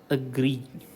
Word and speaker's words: agree: ഇതിൽ the correct pronunciation should be agree. Okay, it starts with the sound a. Okay, and the stress falls on the gree part.